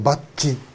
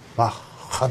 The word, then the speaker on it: Bach: ッハと、バッチではないですね、バッハですね、英語ですとバックって読む人もいるんですけどね、まあ、